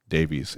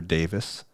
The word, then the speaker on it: Davies: um definitely you know we call fion Davies and by the way if they stop calling her Davis that's just irritating it's like an American thing it's like can you just pronounce the name correctly the craziest thing that